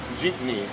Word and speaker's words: Jeepney: Jeepney. Jeepney. Jeepney. Jeepney. Yep. It's like every time you get in your Jeep, you hit your knee, or Pretty much.